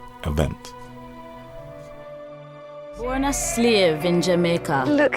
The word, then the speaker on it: Jamaica: Today the anglicized pronunciation is used, Jamaica.